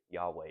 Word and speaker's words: Yahweh: You know, the proper way to say Yahweh is just by breathing in and Breathing. out, and it's crazy to think Every that.